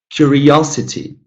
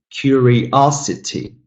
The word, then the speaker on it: curiosity: Now, again, 5 syllables, but the third one is stressed. Number 7, curiosity, curiosity, curiosity, curiosity.